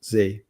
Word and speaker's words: Zah: name is actually pronounced Z. It is Z. Correct. Even though it's spelled Zah, it's pronounced Z.